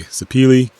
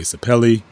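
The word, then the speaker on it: sapele: before some people say sepil some people say sapelli or sepel or sep actually nobody says se but whatever you call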